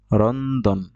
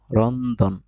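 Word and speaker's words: ロンドン: এখানে উচ্চারণ করতেছে রন্দন। রন্দন।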